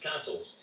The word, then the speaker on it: Cassilis: the Kennedys of Castle, spelt Cassilis, pronounced Castles.